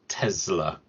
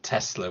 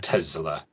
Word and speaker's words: Tesla: with the Zed not Tesla with the S just clearing that up because that is how it's pronounced in the original Serbian so it is Tesla not Tesla definitely because it's named